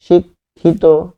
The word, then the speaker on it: শিক্ষিত: পাশাপাশি আমরা যদি ত এবং ইত পেয়ে থাকি, যেমন শিক্ষিত, তাহলে শিক্ষিত লাস্টে হবে তো, উচ্চারণটা হবে তো, শিক্ষিত, এরকম হবে।